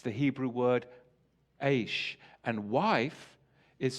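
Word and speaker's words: איש: It's the Hebrew word Aish. And wife is spelled Aleph Shin Hey, Isha.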